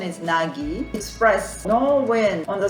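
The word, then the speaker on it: 凪: this kanji mixed together with wind and stuff pronunciation is nagi express no wind on the surface of the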